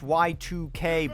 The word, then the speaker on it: YIIK: It's pronounced Y2K.